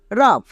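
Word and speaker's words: rough: ইউ এর জন্য আ জি এইচ এর জন্য ফোর টা একই রকম ভাবে আর ও ইউ জি এইচ রাফ ই এন ও ইউ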